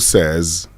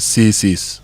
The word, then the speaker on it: says: So my pastor says, Kojo says, okay, not Kojo says. So he says. Okay. It's very simple. Okay. He says. So it's say says. Yes. Says. Not say says.